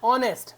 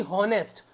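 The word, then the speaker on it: honest: बोलने में आ रहा है ऑनेस्ट ना कि होनेस्ट। अगर हम बोलते तो फिर आप अ होनेस्ट लिखते या पढ़ते। लेकिन फिलहाल ये ऑनेस्ट है। एच साइलेंट होता है।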